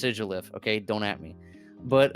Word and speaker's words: Sigilyph: I know it's pronounced Sigilyph.